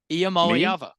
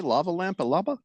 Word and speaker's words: Iamaleava: Iamaleava. What did you say? Lava Lampa Lava?